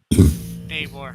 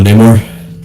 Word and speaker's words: Namor: So there's my not very decently drawn Namor. Oh, Namor. Or as they say, Namor. I don't know why they decided to pronounce it that way.